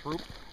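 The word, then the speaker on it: Throop: Is that like Troop? Down in Scranton? It's really Troop? Yeah. If you say it the way it's spelled? Yeah, none of the names around here are spelled the way they're, or sound the way they're spelled.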